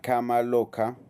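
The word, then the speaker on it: kama loka: Porque usted cuando está en el proceso que se llama cama loca, no cama loca, que no que no es que la cama está loca, eso es un término sánscrito que se pronuncia así, cama loca, usted va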